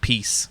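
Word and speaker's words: Piesse: was french yeah p-i-e-s-s-e-n but it's pronounced piece um she looks completely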